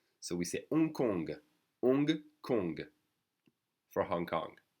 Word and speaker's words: Hong Kong: then we have Hong the H is silent that so we sayong Kong for Hong Kong H is silent Kong